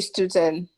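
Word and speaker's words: Stutern: This Stuten, how best do I pronounce the organization's name? So that would be student. Stuten, okay. Yes.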